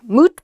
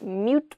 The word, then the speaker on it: moot: Next, moot point. Not mute point, but moot point.